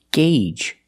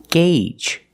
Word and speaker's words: gauge: It's pronounced gauge. That's right. The AU makes a long A sound. Gauge.